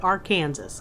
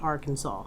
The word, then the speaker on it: Arkansas: you can call it R, Kansas, cuz that's how I say it in everyday life. But today, I'll be good and say it Arkansas the way apparently you're supposed to. But let's be real, it's spelled R Kansas.